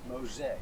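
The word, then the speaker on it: Mose: parks center but uh it's spelled m-o-s-e but pronounced mosaic fort mosaic first african-american community right here in mexico uh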